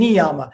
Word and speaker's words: niyama: topic uh from the um traditional uh uh pronunciation would be jamma and niyama so the salt the second y in neon